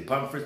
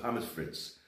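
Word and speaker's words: Pommes frites: you know i said people they would say papa first but pam is fritz that's the real pronunciation of french fries here in germany this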